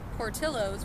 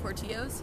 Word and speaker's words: Portillo's: getting in my way they took us to Portillo's which is actually how you pronounce it weird right who knew but like